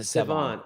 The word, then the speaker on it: Sevan: Sevon, yeah, you pronounce it Sevon.